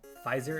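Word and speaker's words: Fiverr: original theme that I hired someone on Pfizer, is how you pronounce it, to create for me.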